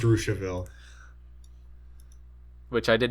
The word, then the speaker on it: Russiaville: Actually, Melody tells me that that's called Russiaville, It is pronounced Russiaville.